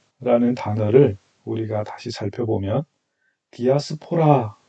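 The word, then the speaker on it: diaspora: 단어를 우리가 다시 살펴보면 디아스포라 라고 발음을 합니다 디안 행적 2 하고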